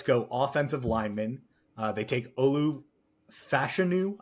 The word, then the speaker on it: Olu Fashanu: They take Olu Fashanu, I believe is how it was hammered in on draft week is the correct pronunciation.